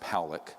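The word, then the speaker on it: Pawelec: 600,000 views this man William Pock it's pronounced poic uh was a man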